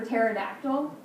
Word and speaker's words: pterodactyl: They all deal with silent letters at the beginning of the word. How many of you actually knew that pterodactyl started with P?